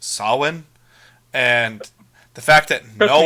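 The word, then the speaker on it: Samhain: It's not pronounced Sam Hayne. It's pronounced Sin.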